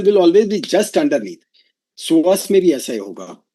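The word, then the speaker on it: psoas: SAS, right? It name is SAS. P S O A S P is silent, right?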